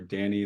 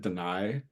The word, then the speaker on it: Dan'i: Like, I'm not discriminatory where I put out my music, under Danny, that's all caps DAN apostrophe I. A lot of people pronounce it deny. No, I am not.